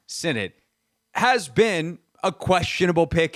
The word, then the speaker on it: Sinnott: We now know that Ben Sinnott, properly pronounced Sinnott, has been a questionable pick at times.